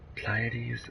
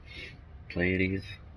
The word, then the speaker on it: Pleiades: I think traditionally it's Pleiades because the EI makes it like an I sound.